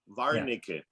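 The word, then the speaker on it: Warnarecke: the name but yeah the w is pronounced with a v varniquet varnish claustronicky interesting that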